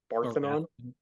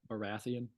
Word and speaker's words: Baratheon: King Robert Barthenon? Baratheon.